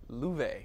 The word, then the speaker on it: Love: spelled out l.o.v.e but it's an old swedish name pronounced llueve oh I get it